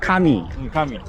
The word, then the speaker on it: 神: “神” is pronounced “kami.”